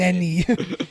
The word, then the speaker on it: Elneny: Just tell me how to pronounce it. Mohamed you're gonna fucking say it. Elneny.